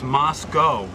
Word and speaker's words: Moscow: I am in Moscow. Oh, I'm saying it wrong. It's Moscow, Idaho. Moscow, Idaho.